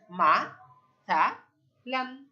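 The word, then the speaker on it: مثلا: ওকে, প্রথম শব্দটা হলো আমাদের মা সা লান। মিম ফাতা মা, সা ফাতা সা, লাম আলিফ দুই জবর বলতে হবে, লান। মাসালান, মাসালান, মাসালান, তাহলে একটা জবর আর একটা নুন সাকিনের উচ্চারণ, মাসালান।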